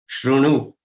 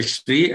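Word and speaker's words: शृणु: But it is supposed to be Ro. Like you try to say Ru, but don't roll your lips as round. Okay, don't roll them. So keep them parallel and then try to say Ru. The pronunciation that comes out is generally correct. Shrunu. But then it is okay even if you say Shri and if you say Shru.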